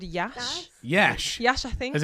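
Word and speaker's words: Iași: ] yeah it's in um a city called Yash Yash Yash I think as in Yash mash it yeah it's spelled like I si but apparently you pronounce it as Yash Do you reckon that's just cuz it's easier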